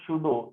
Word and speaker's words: pseudo: दूसरा mathematically F शुडो, एफ के साथ एस लिखूंगा मैं यहाँ पर, एफ शुडो, हालांकि पी से शुरू होती है इसकी स्पेलिंग PFEUDO, ठीक है।